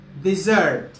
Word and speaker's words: dessert: is pronoun pronunciation pronunciation this is a dessert dessert and this is desert dessert dessert ice cream is a dessert ice cream is a dessert in africa we have desert desert this one is